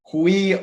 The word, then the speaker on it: Quia: He said it's pronounced Quia, but all good.